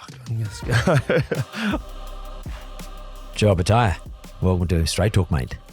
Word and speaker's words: Opetaia: Yeah, Opetaia, yeah.